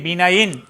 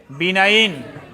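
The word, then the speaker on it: benign: বা cancer বিনাইন মানে শব্দের উচ্চারণ হবে কি বিনাইন যারা পারেন না উচ্চারণ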